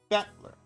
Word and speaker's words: Battler: Battler is made of the characters for fight and person, and is pronounced Battler.